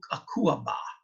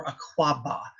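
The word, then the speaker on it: Akuaba: they're Ghanaian called ooh a coup a BA or a claw ba either pronunciation can actually be huge betting on where you are in Ghana I'll use a hula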